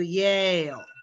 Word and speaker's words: Yale: j and the yeah it's very different to say he went to jail versus he went to yale oh they're very different